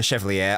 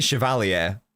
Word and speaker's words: Chevalier: It's a shame it's not work for Chevalier, or I believe I've been pronouncing it wrong this whole time. I think it's actually Chevalier, which I guess makes a lot more sense.